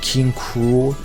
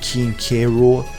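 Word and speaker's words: King K. Rool: most did also apparently it's supposed to be pronounced king cruel not keen k rool so i guess i've been saying it wrong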